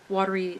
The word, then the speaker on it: watery: Watery is watery, so it's 2 syllables instead of 3, which I kind of